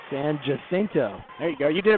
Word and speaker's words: San Jacinto: was from florida gulf coast but she's not san jacinto there you go you did it better than me san jacinto that's a raider point megan alders again megan